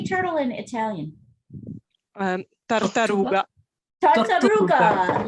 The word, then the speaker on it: tartaruga: tartaruga.